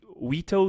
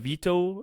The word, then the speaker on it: veto: they said i mean they pronounced it wito instead of veto like with the accent and apparently um warren